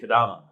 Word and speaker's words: Kadama: He's got a really cool technology platform that he is building with, let me pronounce this correctly, Kadama. Is that correct? Kadama, yeah. Kadama.